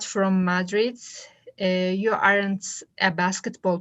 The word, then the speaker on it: Madrid: okay madrid madrid okay so madrid the stress is on the second so it's quick don't say madrid so all right thank